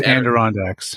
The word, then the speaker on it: Adirondacks: it was screw up how to pronounce that I think it's Adirondacks the Adirondack Mountains so I